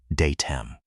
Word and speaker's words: DATEM: Say it like the bakers do. Day-tam.